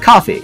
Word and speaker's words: Ko-fi: No, is it Ko-Fi? I mean, it's spelled Ko-Fi for SEO purposes, but it is absolutely, I believe, intended to be pronounced coffee.